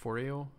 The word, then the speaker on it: Foreo: That's a thing, but so I bring it out to my computer and I looked it up, and it's actually how's it pronounced? Foreo.